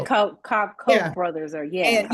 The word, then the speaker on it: Koch: And she's working for Coke now, and that's not Coca-Cola, but the Koch, I think it's called pronounced Yeah, the Coke.